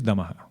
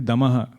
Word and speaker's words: damah: you need Inner Strength but it is damah not Dam damah so damah is more